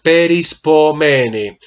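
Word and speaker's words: perispómena: es pois mene sí Recuerda que debe ser peris pomene debes ensayar un poquito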